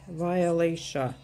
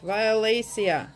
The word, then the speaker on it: violacea: Tom I was thinking how do you say violation violacea oh that's right violacea every time you hear